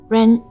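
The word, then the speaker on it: 人: This character is pronounced as Ren, Xuechen, which is also your current identity. Ren.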